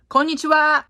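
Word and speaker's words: こんにちは: this one one word konnichiwa which means hello in Japanese no Japanese person puts an accent or knee like many Americans say Konnichiwa Japanese language sound pretty flat most of the time unless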